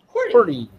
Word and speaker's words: QWERTY: Corty. QWERTY.